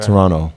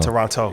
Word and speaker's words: Toronto: I mean, since you guys are in my city, we don't pronounce the second T. Okay. Toronto. There you go. Toronto. There you go. Not Toronto. Yeah. That shows you're not from me. Take the T off, y'all.